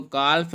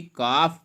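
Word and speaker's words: calf: इसको काल्फ नहीं बल्कि काफ पढ़ते हैं।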